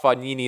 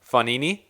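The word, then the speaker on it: Fognini: good rallies i thought fagnini last night fannini i'm saying it right now fannini would be a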